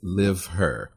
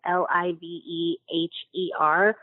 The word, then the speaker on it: LiveHer: Now, the name of the project is LiveHer. Talk about where we can go online and learn more about this campaign. The LiveHer project is like a combination of liver and her. It's spelled LiveHer.